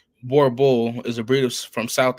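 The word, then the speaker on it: Boerboel: The Borbal, pronounced Borbul, is a breed from South Africa, which is why the dog is sometimes known as South African Mastiffs.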